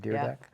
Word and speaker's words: Dyrdek: started August 29th, 2011, and how do we pronounce Rob? Dyrdek. Dyrdek.